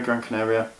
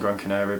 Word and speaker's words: Gran Canaria: Canaria Canary Gran Canary Gran Canaria another thing I'm being told I've been pronouncing it wrong but I've been saying Gran Canario but I finished Gran